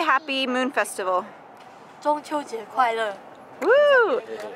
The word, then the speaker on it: 中秋节快乐: 中秋节快乐. Woo! 中秋节快乐.